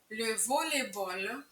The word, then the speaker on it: volleyball: як знову щось робити волейболь волейбол Зверніть будь ласка увагу що люфутболь пишеться разом лю волейболь пишеться окремо але обидва закінчуються на баль який вимовляється як боль сти обсуждати обговорювати щось